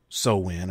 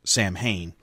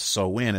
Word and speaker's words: Samhain: many other people back then got introduced to so win or as dr. Loomis incorrectly pronounced it Samhain and he also kindly kind of misrepresented it